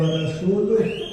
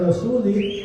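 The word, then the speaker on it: وَرَسُولُهُ: Gara-gara ada orang baca salah, Annallaha bari'um minal musyrikina wa rasuluh, namun dia bacanya Annallaha bari'um minal musyrikina wa rasulih, maka dia berinisiatif untuk membuat baris-baris di dalam Al-Quran.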